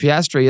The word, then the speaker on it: Piastri: I couldn't Piastri. That's how you say his name.